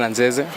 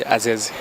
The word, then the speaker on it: Anzeze: Okay, my name is Anzeze, but most people call me Azeze. Okay, I play number 6 midfield, defensive. Okay. As in, watu wengi wanashindwa kupronounce Anzeze, so wanasema Azeze.